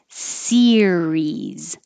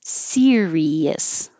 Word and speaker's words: series: lot of practice because it should be two syllables series series if you have three syllables it's a whole different word serious serious this is also